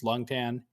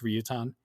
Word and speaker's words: Ryutan: in chinese same guy the chinese name is longtan in japanese it's ryutan um but anyways ryutan